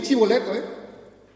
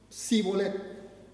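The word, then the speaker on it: Shibboleth: Entonces di chiboleto, Y los efrateos decían: Sibolet. Enseguida los mataban. 42,000 mataron ese día. Jueces, capítulo 12. Solo por no pronunciar bien.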